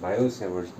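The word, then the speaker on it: Biot–Savart: BYOD सेवर्ड ने अपना एक ला दिया, इसको बायोड सेवर्ड, बायो सेवर्ड ला भी कहते हैं, टी साइलेंट होता है, ठीक है, बायो सेवर्ड ला।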